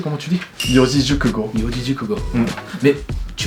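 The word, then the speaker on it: 四字熟語: Attends, tu peux le prononcer comment tu dis? Yojijukugo.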